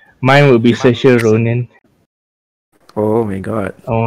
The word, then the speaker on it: Saoirse: Saoirse Una Ronan. It's so Irish name. If you guys Google about Irish name, it's so weird with how you actually think it's pronounced, but it's pronounced very differently. Saoirse Ronan.